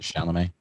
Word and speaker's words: Chalamet: Timothy Chalamet is in it. Is that how you say it? Chalamet?